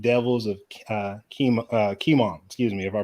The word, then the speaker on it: Kimon: What were your thoughts on the 8 devils of Kimon? Excuse me if I pronounce that. It's probably with just the O. Not chemo. No, it's Kimon. It's Kimon. I kept saying chemo.